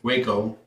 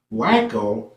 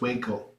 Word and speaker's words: Waco: the city on the map called, well, it's pronounced Waco, but we were like, Wacko? Who the hell names the city Wacko? We all laughed. And I was like, no, it's Waco.